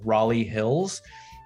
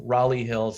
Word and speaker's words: Raleigh Hills: county line you have raleigh hills um i mean there's like a raleigh north carolina um although that they do kind of say that like raleigh so just know that it's raleigh hills um i i have